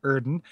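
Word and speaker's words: Oedon: Scott says, Erden is pronounced Erden because it's using the German umlaut OE sound, usually represented by an O with an umlaut over it.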